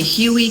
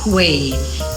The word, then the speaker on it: Huế: I'm always tempted to say Huey cuz it's H u but it's pronounced Hui.